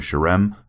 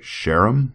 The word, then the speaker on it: Sherem: One of them, the one the guy I kept calling Sherem. Apparently, it's supposed to be like Sheram. Yeah, Sheram, I think is is how it's supposed to be.